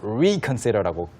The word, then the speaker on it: reconsider: 그렇기 때문에 re에 강조를 해서 reconsider라고 발음하는 경우도 많습니다.